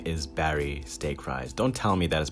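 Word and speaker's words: Barry Steakfries: murders innocent people and yes his name is barry stake rise don't tell me that is pronounced diak freyas or anything like that the company is working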